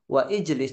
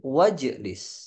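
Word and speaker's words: واجلس: bawahnya ini ini bacanyaalah ijlis kalau kemasukan wa Jadi bukan waijlis tapi wajlis unzur ya Aki kalau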